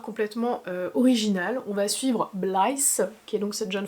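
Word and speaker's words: Blythe: On va suivre Blyce qui est donc cette jeune femme. Donc ça s'écrit quand même B L Y T H E donc Blyce on dire et Brigs qui est donc lui.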